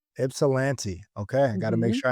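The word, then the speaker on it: Ypsilanti: I don't want to mispronounce this early in the week. Ipssilante. Ipsilante.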